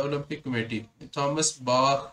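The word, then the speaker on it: Bach: याद रख सकते हैं, बट प्रॉपर प्रोनाउंसिएशन जो है वो उसकी बाख है, बाख।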